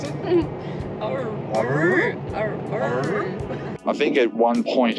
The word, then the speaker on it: Orroroo: How do you pronounce it? Orroroo.